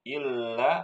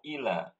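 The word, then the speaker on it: إلّا: wamuahuallah bagus ul perhatikan Ibu lamnya dikata Ila Ila lamnya ada tasdidnya enggak enggak Ustaz enggak ada jadi bacanya illa atau Ila Ila nah silakan diulangi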